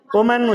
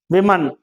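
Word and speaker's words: women: இப்ப நீங்க இதை எப்படி உச்சரிப்பீங்க? இதை எப்படி உச்சரிப்பீங்க? உமன் உச்சரிப்பீங்க. இதை எப்படி உச்சரிப்பீங்க? விமன். அப்படிதான் இருக்கா ஸ்கிரிப்ட்? தெரியாது. ஸ்கிரிப்ட் உனக்கு சொல்லி கொடுத்தாங்களா? ஸ்கிரிப்ட் வந்து இப்படி இருக்கு, விமின் தான். ஆமா, புரியல? இல்ல ஸ்கிரிப்ட் வந்து அதுதான். சரிங்களா? விமின் தான்.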